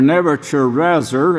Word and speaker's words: Nebuchadnezzar: And when he gave King Nebuchadnezzar, or Nebuchadnezzar is the Hebrew, the only correct way to pronounce it.